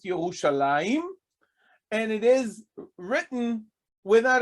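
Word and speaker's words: ירושלים: aside for a second in Hebrew it is pronounced yahushalayim and it is written without a yo almost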